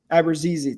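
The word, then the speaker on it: Abruzzese: Uh Nick Abuseizes I think Abrazi. Abrazi. Thank you. Uh from there's a couple different ways to pronounce but that's the most common way I've heard. We're going to get there.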